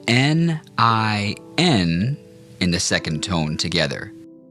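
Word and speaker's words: 您: Now let's practice saying N I N in the second tone together. That's pronounced nin ning.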